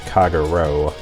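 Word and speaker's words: Kagerou: with ears and then I just realized I've been mispronouncing her name this whole time it's kaguro let's celebrate very close in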